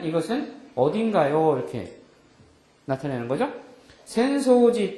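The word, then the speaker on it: 浅草寺: 센소지 또 이유 아사쿠사 여기 앞에 나오는 절 이름에서는 똑같은 우리말로 읽으면 야틀천자에다 풀조차를 써서 천초라고 써놓고 센소지라고 있는데 그 뒤에 나오는 단어에서는 뭐라고 읽어요? 아사쿠사라고 읽는 거죠.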